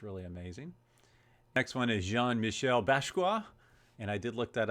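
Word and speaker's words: Jean-Michel Basquiat: collections which is really amazing next one is Jean Michelle basa and I did look that up that is pronounced pretty accurately uh this one's really crazy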